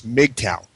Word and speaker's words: MGTOW: acronym MGP Oh W I always pronounce that as mgtow it's easier now unlike MRA a